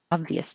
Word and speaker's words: obvious: Obvious to me. That's pretty. That's pretty obvious to me. That's pretty. That's pretty obvious to me. Obvious. The stress is on ob.